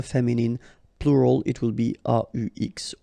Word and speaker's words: aux: at all, and then a plus les will become o, aux, but then remember that phonetically it's o.